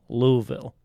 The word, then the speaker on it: Louisville: And really quickly, before we move any further, Steph, I have been informed that it is pronounced Louisville.